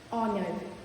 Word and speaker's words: honor: Next is silent H. R, honest, honor. In these words, H is silent.